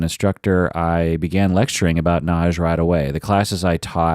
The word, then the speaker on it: Nagy: Naj NJ is pronounced Naj it is it is spelled n a y like like naggi or Nagi but it's pronounced Naj I've had many Patron